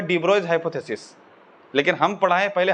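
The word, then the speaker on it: de Broglie: डी ब्रोगली है ना, लेकिन हम पढ़ेंगे डी ब्रोइज। अगर तुम फॉरेन के टीचर्स को देखोगे तो जनरली हम पाए हैं उनका प्रोनाउंसिएशन के अकॉर्डिंगली इनको पढ़ा जाता है डी ब्रोइज, है ना, डी ब्रोगली नहीं।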